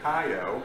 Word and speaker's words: cayo: As a matter of fact, the word key for Florida Keys comes from the Spanish word cayo, which is spelled C-A-Y-O. And if you say it fast, it eventually sounds like key.